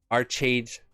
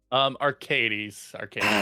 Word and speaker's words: Archades: I'm probably gonna mispronounce it, but I'm gonna do it. Archades Games. Arcades Games.